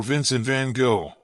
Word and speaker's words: Vincent van Gogh: Vincent van Gogh, or Vincent van Gogh, pronounced in Dutch, is considered one of the most famous artists in the world.